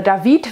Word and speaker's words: David: Und dort lernt sie dann David kennen oder David, weil er halt französisch ausgesprochen wird.